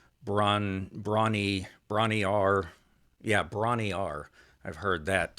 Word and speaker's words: Bron-Yr-Aur: songs, and that was in a place called Bron-Yr-Aur. It's that's close. I think Bron-Yr-Aur. I've heard some Welshmen say Bron-Yr-Aur.